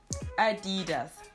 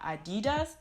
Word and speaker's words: Adidas: So Adi Dassler, Adidas. So it's not Adidas, but Adidas.